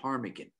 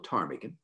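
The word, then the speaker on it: ptarmigan: alaska is the willow tarmigan the p is silent willow tarmigan they're beautiful and you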